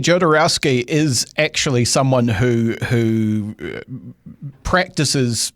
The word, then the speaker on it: Jodorowsky: There's several different ways people pronounce his name as well, depending on who you're talking to. But I believe the correct way is Jodorowsky with a Y sound.